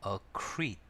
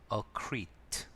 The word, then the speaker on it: accrete: 단어 철자는 acc e 발음은 accet 뒤에는 살짝 장모음 이죠 그래서 accet acat accet 동사로서 자동사 타동사 다